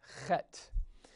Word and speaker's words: het: there is the Zion the next letter is called het it's it's it's a really sort of a rough breathing of an H uh-huh and it looks